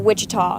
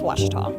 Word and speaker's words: Ouachita: University back in Texas everybody pronounces it Wichita but really it's Ouachita Washington how would you